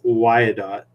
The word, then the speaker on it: Wyandotte: It's pronounced Wyandotte. Oh, Wyandotte.